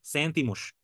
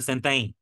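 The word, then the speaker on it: sentem: আর যদি হচ্ছে হলো এলেস, এলাস, বসেস, তাহলে সেন্তাই, সেন্তাই। এখানে সেন্তেম হবে না, এটা যখন পর্তুগিজের একটা ওয়ার্ড আপনার এম দিয়ে শেষ হয় তখন এটা এই উচ্চারণ হয়, সেন্তাই।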